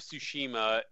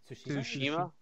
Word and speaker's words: Tsushima: Ghosts of Tsushima and There was one more, weird one.